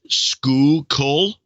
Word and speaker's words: Schuylkill: she says pronunciation guide Schuylkill is school coal ah I don't know